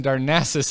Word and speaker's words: Darnassus: Darnassus. But the The emphasis in Darnassus is on the second syllable, so I put the emphasis on the second syllable when I say Darnasian.